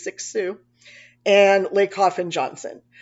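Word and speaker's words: Cixous: um tulman Foucault derida six Sue that's how you pronounce that c-i-x-o-u-s is six Sue and Lake Hoff and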